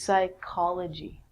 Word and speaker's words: psychology: of the mind and actually we say this like a K so this is psychology with the silent P